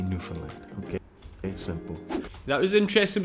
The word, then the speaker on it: Newfoundland: about New Finland cool first of all we say New Finland Newland you know you'll hear every type of pronunciation Under the Sun basically just to simplify it for you the way we say it is New Finland New Finland and Labrador if there's any accent